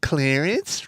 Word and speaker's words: Clarence: Literally, he's like Clarence rhymes with Terrence.